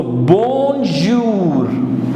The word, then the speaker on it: bonjour: OU gives U sound, so it becomes jou and R will be pronounced, so together jour. So bonjour, bonjour, which means good morning in French.